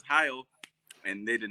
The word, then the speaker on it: Heil: Oh, Heil.